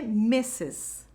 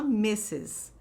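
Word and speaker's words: Mrs.: disso daqui então Ó aqui é messes tá isso daqui se fala messes OK então como os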